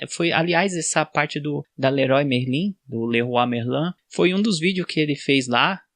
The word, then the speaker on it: Leroy Merlin: Aqui a gente fala Leroy Merlin, né? Mas sabe qual que é a pronúncia correta? Leroy Merlin.